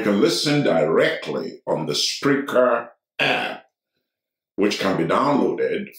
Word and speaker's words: Spreaker: listen directly on the Spreaker app, which can be downloaded for both the Android and the Apple phone. Spreaker is spelled as it is pronounced, S-P-R-E-A-K-E-R.